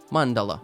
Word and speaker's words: mandala: I know what it is, but I need the pronunciation. How the fuck do you call it? Mandala.